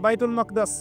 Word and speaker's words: বাইতুল মাকদিস: বাইতুল মাকদাস এটা কোথায় বাইতুল মাকদিস সরি বাইতুল মাকদাস না বাইতুল মাকদিস বিভিন্ন মানুষ বিভিন্ন উচ্চারণ করে এটা হচ্ছে প্যালেস্টাইন কোথায়